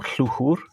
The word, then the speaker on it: Llwchwr: waters would be the River Lycha or Llwchwr, which is the Welsh pronunciation, and obviously the Tawy